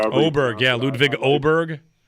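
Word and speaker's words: Åberg: Um I thought uh I don't know how I always mess up his pronunciation. Aberg or however Oberg.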